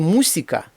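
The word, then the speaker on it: música: слово око по-іспанськи охо слово музика поіспанськи мусика немає звука з текнолохія оце читається як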